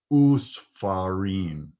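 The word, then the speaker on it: וּסְפָרִים: And in that case, also, the vav shva becomes a shurek. So it's usfarim.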